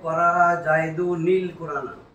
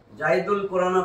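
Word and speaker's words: قرأ زيدٌ القرآن: এখন পড়তে হবে করা জাইদুনিল কুরআন, এই যে করা জাইদুনিল কুরআন, জাইদুল কুরআন পড়লে ভুল উচ্চারণ হবে।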